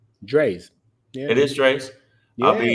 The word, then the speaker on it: Dre's: Dre's.